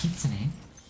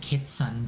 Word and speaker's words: kitsune: But the problem is most people don't know how to pronounce kitsune. You can only be called kiton so many times.